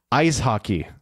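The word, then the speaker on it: Eishockey: today's German word is ice hockey pronounced just like it just like in English ice hockey but E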